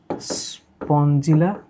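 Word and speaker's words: Spongilla: উচ্চারণটা হবে স্পঞ্জিলা স্কাইফা, স্পঞ্জিলা স্কাইফা, স্পঞ্জিলা স্কাইফা, স্পঞ্জিলা স্কাইফা।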